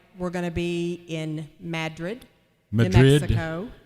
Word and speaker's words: Madrid: going to be in madrid mexico it's pronounced madrid and all the mad madroids live there that's next friday new